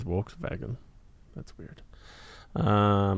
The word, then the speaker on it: Volkswagen: So the W is V and the V is W in German. Like Volkswagen is Volkswagen.